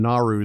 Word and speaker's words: Naru: help but chuckle since her name Naru sounds exactly like how Australians say the word no no it goes from one syllable to three for some reason no anyway pray works